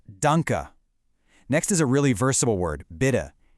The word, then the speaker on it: Danke: Then we have the word for thank you, which is danka, pronounced dunka.